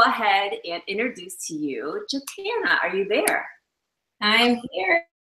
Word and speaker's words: Jatana: And she says Jatana like banana.